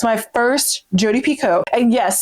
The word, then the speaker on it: Picoult: First of all, it's my first Jodi Picoult. And yes, someone pointed out that like I'm saying Picoult instead of Picoult. I don't know why, but for whatever reason, I'm pronouncing her name in French.